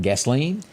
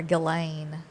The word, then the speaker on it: Ghislaine: They're saying that, am I pronouncing this again? Because I have to ask every time. Gasoline? Well, I think I've heard people calling her Ghislaine. Okay. Just Ghislaine. Let's I call guess her- the S is silent.